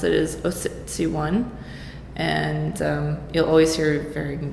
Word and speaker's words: Ociciwan: I pronounce it is Oh 61 and you'll always hear varying degrees of that pronounced pronunciation but it's a Cree word and it means the